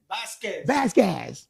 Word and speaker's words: Vasquez: How you pronounce it again? Vasquez. Listen. Vasquez, my friend.